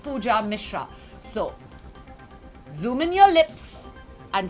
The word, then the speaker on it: Pooja Mishra: ban trolling ban cloning my name is easy and simple its pooja Mishra like I said not any of those which I said earlier but pooja Mishra so luminol lips and say pooja Mishra sweet and simple oh